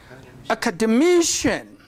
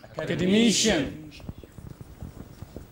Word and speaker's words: academician: So it is this stress that changes.